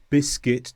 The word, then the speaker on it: biscuit: Secondly, sometimes when you have U before I, you don't pronounce the U. For example, build, biscuit, disguise and guitar.